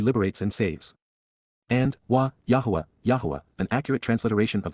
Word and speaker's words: Yahowah: Right from the beginning, Tchila at the point in time when this started and from the first, Yahwa, Yahwa, the proper pronunciation of YHWH, spoke, communicating, dabber, verbally expressed using words to convey, peel, perfect.